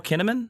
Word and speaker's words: Kinnaman: Joel Kinnaman? Yeah, he's got a great yeah. name, but. Yeah, I don't know. He was fine in Suicide Squad. It rhymes with cinnamon.